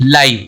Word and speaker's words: live: दूसरा है LIVE, इसको बोलेंगे लिव। ठीक है, इसे सेंटेंस बना, आई लिव इन मुंबई। तो ये क्या हो गया, लाइव। LIVE दोनों का स्पेलिंग सेम है, तो ये होमोग्राफ हो गया, लेकिन यहाँ पे इसका प्रोनाउंसिएशन अलग है।